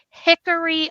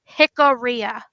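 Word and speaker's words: Jicarilla: You're going to hear him constantly say Hickory Apache. It's Hickoria. It's Hickoria Apache. No one who is Apache, no matter where you're from, is going to say their tribe name wrong.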